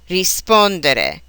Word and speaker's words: rispondere: Many, but not all, of these verbs are accented on the syllable that precedes the next to the last. Here are some examples: credere, vendere, rispondere, ricevere.